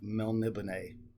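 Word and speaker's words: Melniboné: six elric of melnibane never been sure how to pronounce that elric of mel nibine that's what i'm going to say by michael morcock uh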